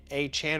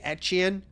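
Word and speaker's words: Etienne: I've heard at the press conference him say Achan. I've heard afterwards him say Etien. And obviously we all know like ETN is not how you say it anymore, but like people are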